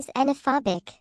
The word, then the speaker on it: xenophobic: upcoming book entitled, Going Xenophobic. Sarah, I think the word xenophobic is spelled with the letter X. Whatever, Larry. It sounds like a Z to me, so I will stick to my guns on that one.